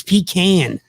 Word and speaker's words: pecan: it's delicious of course we called it pecan pecan pie in the north and when i moved south and people you know made fun of me and it's it's pecan like like can i say it right that's people just tell